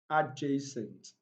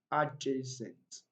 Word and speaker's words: adjacent: word you discover that letter d is not pronounced silent and k chief sandwich sandwich adjacent adjacent adjoin and adjust now you discovered that most